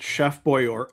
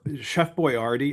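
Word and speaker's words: Chef Boyardee: How Howard also pronounces it chef boy. Chef boyardi. I can't even do it. It's so as opposed to chef boy, you know.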